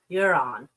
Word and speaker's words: Iran: The Iranians pronounce it Iran.